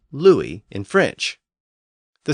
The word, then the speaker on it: Louis: But when the letter U appeared before another vowel, like in Louis, it was usually pronounced with that W sound.